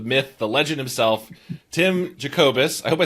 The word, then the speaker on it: Jacobus: I am so honored to be joined for our 200th episode by the man, the myth, the legend himself, Tim Jacobus.